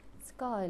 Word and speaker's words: sky: is sky very good sky let's spell the word s k y y here y is pronounced like i sound the sky is gray السماء لونها رمادي غائم يعني the sky is gray.